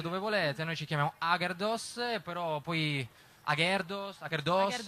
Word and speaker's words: Agherdoss: Sì, abbiamo storpiato semplicemente l'accento. In piemontese sarebbe Agerdus, però non ci dava molta dolce, adesso ho capito.